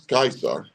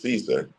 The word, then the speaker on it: Caesar: that people identified with Julius Kaiser for pronouncing Engish Julius Caesar he expanded the Rome